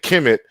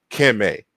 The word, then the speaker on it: Kemet: in the Egyptian language so when we're saying Kim it that's how they would have pronounced it in the middle and Old Kingdom